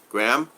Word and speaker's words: Graham: Graham is Dennis saying hi to Graham. You know, when I see Graham, he said it right one day. He says like graham cracker, and I've never missed it since.